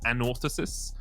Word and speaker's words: Anorthosis: that name pronounced correctly apparently you put the emphasis on the first o so it's an orthosis famagusta uh we'll be